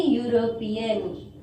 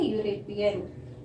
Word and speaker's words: European: A European. What we have to say? A European.